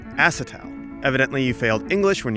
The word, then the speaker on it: acetal: made out of umhw they're made out of acetyl you think that's how you say it actually john it's pronounced acetal evidently you failed english when you were in